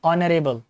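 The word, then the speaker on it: honourable: Word लिखा हुआ है ऑनरेबल, किससे शुरू होगा, ओ से प्रोनाउंसिएशन शुरू होगा, एच नहीं आएगा। एच आएगा लिखते समय लेकिन पढ़ते समय नहीं आएगा। पढ़ेंगे कैसे, ऑनरेबल। अब क्या करना है आपको,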